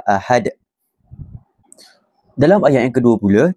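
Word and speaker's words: أحد: itu iaitu ahad ah kita perlu membacanya dengan pantulan yang kuat dan besar kita perlu baca dengan kuatlah ahad Dalam ayat yang kedua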